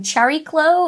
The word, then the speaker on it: Chariklo: may uh pronounce also if you don't like the way I've been pronouncing Cherry glow I found a video from the New Horizons team and they pronounced it that way in the video so if you have